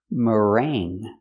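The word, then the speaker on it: meringue: of ring is ring we're going to use that sound mering so there's no G it's in your nose because you have the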